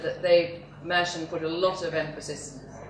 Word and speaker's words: Mercian: How do they pronounce it? Mercian.